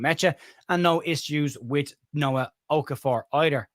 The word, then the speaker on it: Okafor: I have been told when I say Noah Okafor, it sounds like I'm saying no, so I'll overpronounce Noah Okafor just so there's not that mix up again.